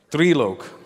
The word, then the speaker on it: Trilok: Trilok. Trilok. But it's pronounced 3.